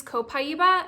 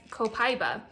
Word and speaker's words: Copaiba: Rigel Smith here, and today I'm going to teach you how to use Copaiba essential oil, also known as Copaiba. Either pronunciation is fine, but I'm going to teach you the 5 primary ways to use it.